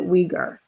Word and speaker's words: Uyghur: So with BBC pronounces it Uyghur.